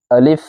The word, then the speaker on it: الف: الف۔ سب سے پہلا لفظ ہے الف، آخر میں فا کی آواز آئے گی، اس کو پڑھیں گے الف۔ اس سے اگلا جو